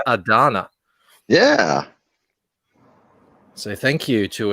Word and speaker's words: Ardanna: I got the pronunciation now. It's ARDANNA.